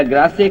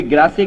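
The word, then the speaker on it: Grasse: France में perfume capital अगर है कोई तो कोई ग्रासे कहता है, कोई ग्रास कहता है। वो एक प्रोनाउंसिएशन है कि इंग्लिश या फ्रेंच जो भी कुछ है।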